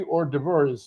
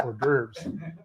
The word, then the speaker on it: hors d'oeuvres: a public service announcement, and there'll be free hors d'oeuvres there. And then, so someone called me and go, it's pronounced hors d'oeuvres.